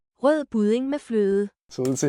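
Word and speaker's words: rødgrød med fløde: That's actually how you say it. Rød budding med fløde.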